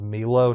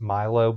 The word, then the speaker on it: Milo: Oh, yeah, this is Milo and he's going in the top tier. I really like his design. And I'm saying his name is Milo, not Mylo, because he's German.